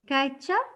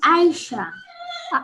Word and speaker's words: Aisha: Kaicha? Kaicha? My name is Natasha. My name is Aisha. Is it Aisha? But Yes. do you spell it with a K in the beginning? No, A. Aisha.